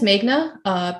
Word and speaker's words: Meghna: Hi, my name is Meghna, pronounced May like the month, this month.